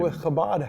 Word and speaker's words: Chabad: Chabad. You got to have like that that Jewish pronunciation.